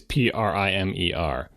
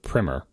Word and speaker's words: Primer: people to pronounce it primmer no but eventually gave up because everybody everybody who saw that word pronounced it primer which is an alternate pronunciation of that word with a different meaning um and so the